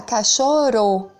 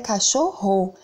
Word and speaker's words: cachorro: O som tá forte, né? Ro. Então, aqui são dois R's. Se fosse um R só, ia ficar cachorro.